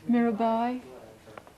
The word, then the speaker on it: Mirabai: me with the pronunciation is it mirabai or Mira Bay well we won't know mirabai thank you I thought I'd read